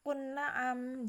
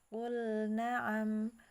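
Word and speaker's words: قُلْ نَعَمْ: Ya, maka di situ jangan dibaca qul na'am, jangan diidgham, ya, tapi dia lamnya jelas. Qul na'am.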